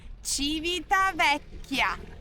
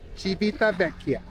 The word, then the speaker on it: Civitavecchia: Civitavecchia. Yeah. Whatever. I've been shortening it CV because it's kind of hard to pronounce. Do you pronounce the name of the city? Civitavecchia. Civitavecchia.